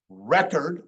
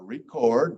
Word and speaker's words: record: count, culture, cure, cut, record or record. Record is a verb.